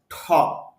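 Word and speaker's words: talk: এখানে দেখেন ঠ আছে, টি আছে, এই জন্য টক হবে না, উচ্চারণ হবে ঠক। মুখ থেকে অতিরিক্ত বাতাস বের হবে।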